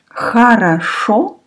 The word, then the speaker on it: хорошо: One O is stressed, last one. Actually, in this answer, очень хорошо, the first O is stressed and the last O is stressed. So you pronounce like O, the first letter and the last letter. Очень хорошо. The other two O you pronounce like A.